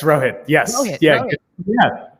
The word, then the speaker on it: Rohit: I'm hopefully pronouncing your name Rohit. Is that correct? Yeah, it's Rohit.